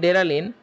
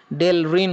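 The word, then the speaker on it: Delrin: বইয়ে লিখছে ডেরালিন, কিন্তু ইন্টারন্যাশনালি তোমরা এটা ইংরেজিটা দেখলে দেখবা যে এটা ডেল রিন উচ্চারণ হয়, ওকে।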